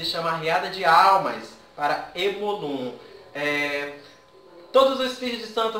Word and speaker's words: Omolum: Uma das obrigações que me chama muito a atenção é a obrigação para Emolum, ou Omolum, não sei como que se pronuncia. Omolum? É, Omolum.